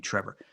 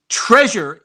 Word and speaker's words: Trevor: accent night days and folks in America have a really hard time in many cases pronouncing my name Trevor treasure is one of the abuses of the name Trevor just you know let me